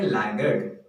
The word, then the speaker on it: laggard: इसका प्रोनाउंसिएशन है लैगर्ड, और लैगर्ड एक विशेषण है, इट इज एन एडजेक्टिव।